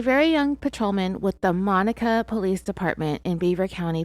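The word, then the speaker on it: Monaca: young patrolman with the Mona I'm going to check pronunciation on that one real quick yep I was wrong it's Monica Pennsylvania Monica Police Department in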